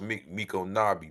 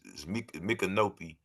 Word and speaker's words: Micanopy: I think it's pronounced Mikonabi, but it's Mikanopi in English.